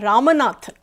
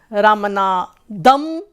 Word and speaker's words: Ramanathan: Like I am Ramanathan. So many people pronounce it as Ramanathan, Ramanadam, or Ramnath, or Ramanna. So again, like I go